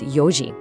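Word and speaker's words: 四時: Now, watch out for 4:00, it's yoji.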